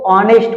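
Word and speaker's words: honest: क्योंकि इसका जो प्रोनाउंसिएशन है वो ऑनेस्ट होता है।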